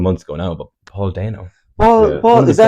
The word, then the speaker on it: Dano: The main at the moment is, well, it was a couple of months ago now, but Paul Dano.